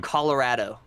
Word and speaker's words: Colorado: Oh, Colorado.